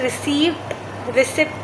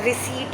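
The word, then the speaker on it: receipt: और शब्द क्या होता है, रिसिप्ट नहीं होता, रिसीट होता है, ठीक है, मतलब लिखा सही है, स्पेलिंग सही है, प्रोनाउंसिएशन सिखा रही हूँ बस।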